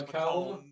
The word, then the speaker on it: Macomb: It's Macomb. Macomb. That's how you all pronounce it, huh? Yeah, Well, the B is silent, but that's how you choose to live your life.